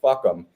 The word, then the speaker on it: FUCAM: That acronym is FUCAM, and it's pronounced fuck 'em."